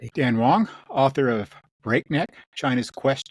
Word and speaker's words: Wang: Uh, for those of you looking for the book, his name is spelled with an A, not an O, so it looks like you might want to say it Wang, but it's Wong.